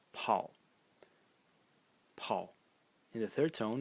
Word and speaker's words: 跑: going to talk about a character which is pronounced Paul Paul in the third tone and it means